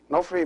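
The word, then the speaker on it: ⲛⲟϥⲣⲓ: So the word Nofri is 2 syllables, Nof and Ri.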